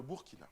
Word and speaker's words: Burkina: frères et sœurs du Burkina. D'ailleurs, à ce propos, je m'apprête à vous le dire. Dites Burkina Faso. Burkina. Le Burkina. Burkina. Voilà, dites Burkina. Burkina. Voilà. C'est écrit Burkina, mais c'est Burkina.